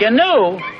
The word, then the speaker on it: gnu: Gnu? It's G-N-U, gnu. The G is silent.